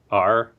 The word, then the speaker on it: Maar: We're here to talk about Mars, and I'm pronouncing that right. It's Maar.